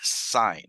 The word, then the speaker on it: sine: I'm still going to call it sine. I'm not going to read it as sin. It is still pronounced sine.